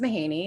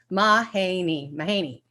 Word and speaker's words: Mahaney: The first, I'm gonna do it in three syllables. Ma, like come on, Ma. Hey, hey there. And knee, your knee. Mahaney is the first one.